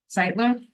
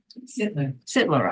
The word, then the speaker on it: Sittler: Sightler? Sittler, I said it right the first time.